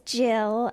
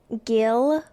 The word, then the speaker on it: Gill: a problem for you um it's Jill and it's a constant problem I either get Gil or people spell it wrong G which I assume they're saying Gil in their head sometimes people call me